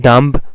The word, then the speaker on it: dumb: So in dumb, once again don't disguise with the spelling. In dumb, b is silent, so it is ending at a nasal consonant m.